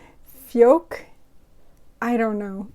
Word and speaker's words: Fjak: you pronounce it either so this little symbol with the circle on top the a with the circle on top that means you pronounce that a more like the o's in poor or or so fjork but i feel like i'm adding an r in there no fjok i don't know it's